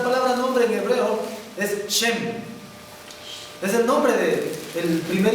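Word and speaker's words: שם: Esta palabra nombre en hebreo es Shem. Es el nombre del primer hijo de Noé. ¿Sí? Nosotros en el español le escribimos Sem. ¿Sí? Pero en hebreo es Shem.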